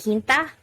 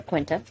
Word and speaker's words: Quinta: In Spanish, you would pronounce it Quinta, which means 5th, but they call her Quinta.